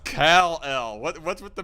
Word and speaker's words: Kal-El: It's pronounced Kal-El.